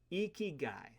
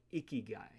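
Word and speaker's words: ikigai: creation and Belle introduces a Japanese word called eeky guy it sounds like iy guy but it's spelled i k i g a i this word means reason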